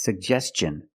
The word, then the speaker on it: suggestion: learned we see this word how do we pronounce it is it suggestion or suggestion that's right it's suggestion because the ti n is after an S